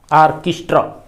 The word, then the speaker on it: orchestra: ऑर्केस्ट्रा, यहाँ उच्चारण जो है ये आई जैसा होगा, यहाँ ट्रा नहीं ट्र, ऑर्केस्ट्रा।